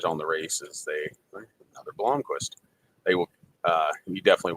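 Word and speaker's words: Blomqvist: made a good point you can say it it's Tom Blom so it's Tom Blomquist not Bloomquist even some of the announcers on the Races they another Blomquist they will uh you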